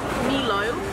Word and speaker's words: Milo: There was quite a debate in the comments when I asked how to pronounce it. I think the consensus was Milo.